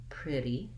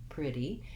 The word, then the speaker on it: pretty: to help you so in pretty we have first syllable stress so the pre syllable is long and the d syllable is short and unstressed pretty pretty and then you also